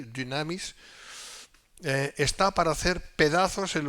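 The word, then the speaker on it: δύναμις: entendimiento de los entendidos el poder de Dios en griego es damis se pronuncia entre una u y una I damis está para hacer pedazos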